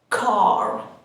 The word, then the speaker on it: car: This is a car. Car. In British English, we don't pronounce the R sound and we say car.